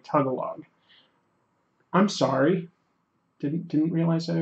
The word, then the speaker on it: Tagalog: watching the stream and says that I said Tagalog and it's pronounced something more like tugga log I'm sorry didn't realize